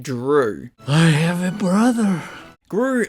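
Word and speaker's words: Dru: also named Gru but the G is replaced with a d and it's pronounced Drew I have a brother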